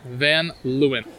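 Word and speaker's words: Van Leeuwen: in the East Village and how do we pronounce the ice cream place again then lewin van Lewin yeah you got a lot of cool little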